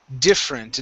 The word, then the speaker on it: different: Okay, next up we have different instead of different. Okay, this e right here in the middle, we're not going to pronounce that.